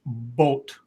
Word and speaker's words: Boot: one says you pronounced boot wrong scribe it's pronounced boat that's Bo well she is German so very um we're American we say it dos boot do boot you're lucky we don't say Das